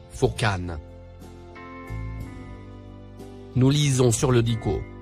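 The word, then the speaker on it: Furqan: Le troisième mot en surbrillance vert, se prononce, Fourqan.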